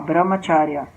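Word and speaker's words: ब्रह्मचर्य: Mas em sânscrito o som do C tem o som do Ch, que nem em italiano. Aí C ou C-H-A-R-Y-A, Brahmacharya.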